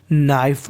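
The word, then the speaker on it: knife: नाइफ का मतलब चाकू देखिए अगर आपको किसी मीनिंग में एन से पहले के लगा मिले तो के का उच्चारण हमें नहीं करना होता है तो मीनिंग बन गई नाइफ नाइफ का मतलब चाकू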